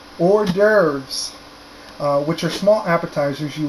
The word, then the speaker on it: hors d'oeuvres: this next one is actually really hard to look at but it's actually very easy to pronounce hors d'oeuvres which are small appetizers